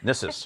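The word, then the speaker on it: Gnisis: We're in Nissus right now? Nissus. That's the only one I know for sure. Yes, in this one, the G is silent, unlike in Dreg.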